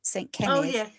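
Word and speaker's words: Cenydd: saint called um kenneth who's called kenneth in english but his name isn't spelled like that he's welsh it's it's about c-e-n-y-d-d saint kenny and his story is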